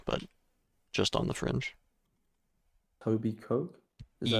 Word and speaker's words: Etobicoke: Toby Coke? Is that like Etobicoke. Itoby? Oh, I see. Itoby Coke.